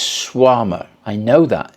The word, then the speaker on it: Shawarma: I keep thinking of Bananarama, Schwarmarama, and it's Schwarma.